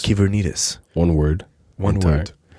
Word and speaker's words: Kyvernitis: Well, if you can spell it, you can find, right? It's Kyvernitis. Kyvernitis.